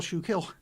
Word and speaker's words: Schuylkill: There's an L before kill. I'm not hitting the L very hard.